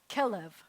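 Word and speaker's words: כלב: will always happen is the first syllable is the one that's going to be accented. Most of the time in Hebrew, the last syllable is accented, but not when you have this pattern.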